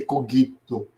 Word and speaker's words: cogito: Sim, porque a questão do cogito ergo sum, ou dizem que a pronúncia é para ser cogito, pronúncia do latim, cogito ergo sum.